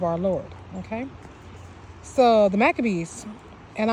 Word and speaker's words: Maccabees: Lord okay so The Maccabees and I'm pronouncing them in the more English version in Hebrew is maccabeem macrobeam okay where the leaders